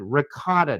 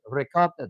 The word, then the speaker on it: ricotta: The word ricotta, I mean, everybody else just calls it ricotta cheese. Whereas I always grew up because my family pronounced it with like an accent, and so I always end up calling it ricotta cheese.